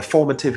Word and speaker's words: formative: Or you could actually, when we talk about someone's early years, we would say their formative years. Sometimes I hear people say formative years. No, formative years.